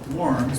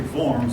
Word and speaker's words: Worms: Eventually, now this looks like it should be pronounced Worms, but it's actually Worms in German.